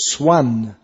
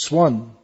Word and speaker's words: swan: That's pronounced swan in Indian English. In English it's pronounced swan.